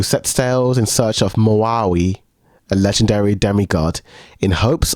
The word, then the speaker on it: Maui: her people this mov I think it's just pronounced Maui Mai Maui okay Mo no just just Maui just Maui okay I love this film like this film